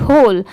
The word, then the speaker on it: whole: पढ़ते हैं, HOLE होल, और WHOLE होल, दोनों को सेम प्रोनाउंस करते हैं, ठीक है।